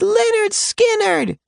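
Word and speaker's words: Lynyrd Skynyrd: Brief candle, and it's pronounced Leonard Skannard, as she went under.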